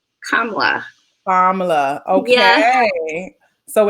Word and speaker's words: Kamala: Because there's the African version of the name, which I think is Kamala, and then there's the Indian version of the name, which is Kamala.